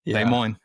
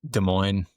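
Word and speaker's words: Des Moines: De Moines. Yeah. Well, if it's it's obviously a French word, but it's like not in the regional pronunciation.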